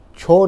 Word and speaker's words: छौ: माने उधर पुरुलिया के क्षेत्र के साइड में छौ नाच होता है।